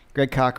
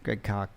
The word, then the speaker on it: Greg Koch: Greg Koch rhymes with chalk. Greg Koch.